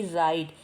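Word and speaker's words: write: आर आई टी ई इसकी pronounce होगी राइट यहां पर डब्लू साइलेंट है इसको राइट पढ़ेंगे इसका मीनिंग होगा लिखना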